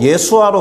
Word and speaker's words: 예수아: 그리고 예수도 예수아로 발음되거든요.